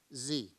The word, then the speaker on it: Sze: and it was but in the united states um they've learned to say z so i'm glad to introduce you to arthur z i first heard him